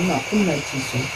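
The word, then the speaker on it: ماءٌ نجسٌ: Atau ma'un najisun, bacanya ma'un najisun.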